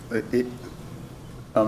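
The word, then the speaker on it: Kopech: you know uh you know we got to kopec kopek that's how you say his name yeah i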